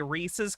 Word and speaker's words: Reese's: At least I say Reese's correctly. Yeah, Reese's. It rhymes with pieces.